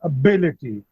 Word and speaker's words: ability: So the pronunciation or the stress would be on B, ability.